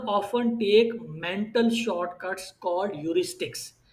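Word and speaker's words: heuristics: और purchase decision में शुरू वाले क्वेश्चंस याद करें कि consumer often take mental shortcuts called यूरिस्टिक्स। ये एच साइलेंट है इसके अंदर, इसको यूरिस्टिक्स कहते हैं।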